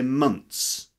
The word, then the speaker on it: months: you can just say months so replace the first sound in month months replace the thirst sound with a sound and you end up with months 13 months old okay